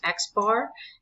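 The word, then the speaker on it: x̄: So this is pronounced X bar and it means the mean.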